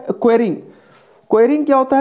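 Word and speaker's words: quarrying: देखिए ये होता है स्पेलिंग इसका QUARRING, ये होता है क्वेरिंग।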